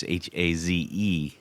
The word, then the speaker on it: Hayes: If you go to his website, it's Hayes Guitars, Haze Guitars. His name is spelled Hayes, but he has no confusion there whatsoever.